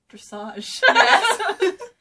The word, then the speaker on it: dressage: I can see it what does it rhyme with massage dressage like Hunter let's call